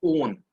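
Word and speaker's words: -one: कीटोन का suffix होता ओन। ठीक है, स्पेलिंग से लगेगा ये वन है, बट इसको हम प्रोनाउंस करेंगे ओन।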